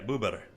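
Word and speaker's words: bóbr: Yeah, buber. That's how you say beaver in Polish.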